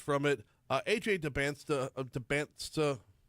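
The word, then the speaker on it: Dybantsa: Uh, AJ Deansa, Debant, I'm gonna get that name wrong every time because the T is before the S.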